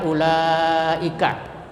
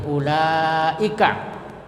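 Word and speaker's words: أولئك: Nah, apabila ada mad tabi'i Umpamanya ula bertemu dengan hamzah ulai di dalam satu kata seperti ulaika. Ya, cara membacanya wajib dipanjangkan sampai 2,5 alif atau 5 harakat atau 2,5 mad tabi'i. Ulaika, ya, dihitung 5 kali. Jadi wawnya tidak dibaca karena tidak ada barisnya, ya.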